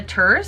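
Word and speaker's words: Törzs: Blood Sister Scribe by Amanda Turs, I think is how it's pronounced. I think that's how the narrator for the audiobook pronounced it.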